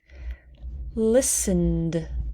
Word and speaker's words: listened: the e hope hoped listened listened we do not pronounce that listened turned turned we do